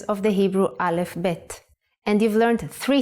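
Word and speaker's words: ב: second character is BET The Sound of bet is B and it looks like this pay attention to the dot it has to be in the middle the print version is like this if you leave out the dot bet becomes vet the sound of vet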